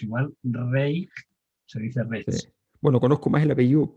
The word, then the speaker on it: Reig: sí, Es un apellido valenciano o catalán y se pronuncia, quizá conozcas más el apellido Roch. sí, que Tiene el hay, mismo mecanismo, es R-O-I-G, se dice Roch como si sí, acabara en CH.